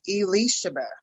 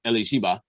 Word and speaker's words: Elisha: so so okay so i know for sure that it's not elishiba and i know i